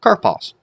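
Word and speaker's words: καρπός: Well, it's karpas. How many syllables does it have? Well, how many vowels? How many diphthongs? It doesn't have any diphthongs, so of alpha and omicron. Karpas.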